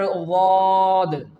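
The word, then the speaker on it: ض: The second example is of the letter Dhaad. What? The Dhaad. The brother of the letter Saad and its Makhraj is also the sides of our tongue when it touches the upper premolars.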